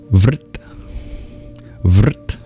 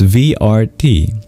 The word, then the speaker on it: vṛtt: The word of the verse is ver v. How do you spell that? It's vr t. In Sanskrit r can be used as a vowel. It's called a vocalic R.